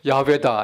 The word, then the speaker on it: 야훼: 그 최근에 와서는 여호와가 아니라 가장 가까운 그 발음은 야훼다 해가지고 야훼라고 읽는 것이.